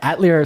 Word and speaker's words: Atelier: Hemmelgarn, director of DMST Atelier. Mm-hmm. Do I say that word correctly? It's French. We love how people say it. People will say Atelier, Atelier. Yeah, Atelier sounds like outlier, which I dig.